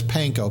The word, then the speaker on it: panko: you may or may not have heard me pronounce that flower is panko PA nko it is a Japanese original that